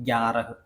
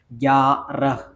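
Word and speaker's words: ग्यारह: ആയിട്ട് ആയിട്ട് വരും ഓക്കേ ഗ്യാറഹ് ഗ്യാറഹ് ഗ്യാറഹ് ഇതേ എല്ലാത്തിനും ഹ ഹ ഹ എന്ന് അവസാനം വരും ഈ രണ്ട് അക്ഷരം ഒഴികെ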